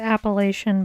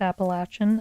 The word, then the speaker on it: Appalachian: Okay, well, I'm working on my pigeon, so I went hiking on the, I pronounce it Appalachian, but my understanding is that it's actually pronounced Appalachian.